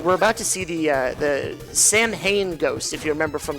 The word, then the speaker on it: Samhain: most terrifying with these Sam Hain ghosts. I call them the Samhain ghost because that's really how you say the word, but I think Sam Hain was like the colloquial way to pronounce it.